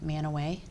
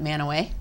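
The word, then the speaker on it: Mantua: Little uh town named Manoway. Manoway. I guess you would spell it Manua. M A N T UA. But we we would if you're from there, you would pronounce it Manoway.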